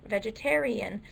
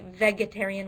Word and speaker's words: vegetarian: We don't say vegetarian, we say vegetarian, like vegetable.